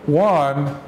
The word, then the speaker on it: Juan: in Spanish you that the J is silent you don't pronounce the J in English the J is pronounced so one is Spanish for the